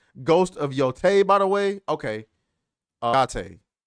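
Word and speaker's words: Yōtei: He says it's pronounced Ghost of Yotei, by the way.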